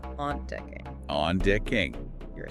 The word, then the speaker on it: ontdekking: Which word has 3 syllables? Potlud, meaning pencil, or ontdekking, meaning discovery? The word with 3 syllables is ontdekking.